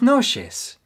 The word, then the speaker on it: noches: the north of Mexico, they pronounce the CH a little differently. It's more like a sh instead of a ch. For example, they'll say buenas noches instead of buenas noches.